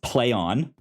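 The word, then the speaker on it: Plaion: have gotten out and said it's pronounced play on but the way they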